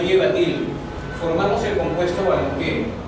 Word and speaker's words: balompié: Formamos el compuesto balompié. Balompié es una palabra constituida por 3 sílabas. ¿Cuál es la tónica? ¿La tónica cuál es? La última.